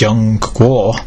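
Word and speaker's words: 中国: as the Middle Kingdom in Chinese it's that's pronounced young war Middle Kingdom middle country for a reason this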